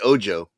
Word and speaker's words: Ojo: Is it Ojo Oho or I I pronounce the J. I say Ojo.